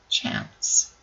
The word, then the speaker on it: chance: Job number 3 makes that C say s, chance.